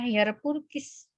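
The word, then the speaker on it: hire purchase: her purkiss dulu ya sewa-beli bacanya her purkiss bukan kue pukis biarpun kiss.hot sewa-beli katanya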